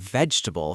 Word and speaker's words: vegetable: And the word vegetable from episode 5. Vegetable. Three syllables.